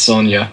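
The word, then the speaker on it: Sonja: pronounce it Cody uh I believe it's Sanja unless you are Spanish or whatever then it's Sonia yep number 62 She Devil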